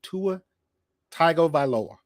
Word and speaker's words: Tagovailoa: Tua Tagovailoa.